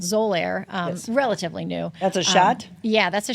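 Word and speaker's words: Xolair: ourselves for patients in the office and it's pronounced zir but it's XO x o l a i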